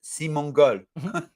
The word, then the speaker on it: Simon: pretty say my name my name because it's Simon right but my name in French is simong simong yeah so I am